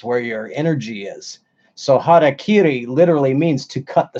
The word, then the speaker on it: harakiri: You know, over here we pronounce everything wrong all the time. Say harikiri. Well, that's it's harakiri.